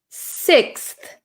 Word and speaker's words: sixth: I pronounce this word we pronounce this word sixth sixth sixth sixth okay okay so this is quite a difficult word we have an x